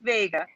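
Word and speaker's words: Wega: that has not changed it's still pronounced vega but it's actually spelled wiga and does anybody see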